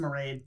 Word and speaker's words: Mairead: Mairead, do you want to get started? For sure. It's pronounced Mairead.